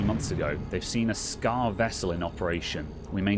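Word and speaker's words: Skaarj: spaceship was they're called scar it's spelt with a j on the end but it's pronounced scar um and so they've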